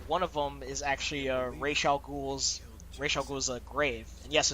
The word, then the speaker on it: Ra's al Ghul: The creator for Ra's al Ghul is Denny O'Neil, and he says it's pronounced Ra's al Ghul.